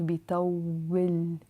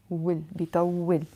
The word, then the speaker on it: بيطول: There is a كسرة sound. بيطول, بيطول.